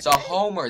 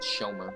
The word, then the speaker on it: Sir Homer: Sir Homer, that's his name, not Shomer.